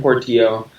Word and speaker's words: Portillo: my name is Portillo it sounds like it's spelled just as Portillo but the others are silent and I'm actually impressed